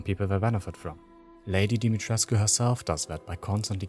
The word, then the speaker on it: Dimitrescu: in the first place, Lady Dimitresc, as she is called within the game, or Lady Dimitrescu, pronounced the way it should be and how I will refer to her throughout the video.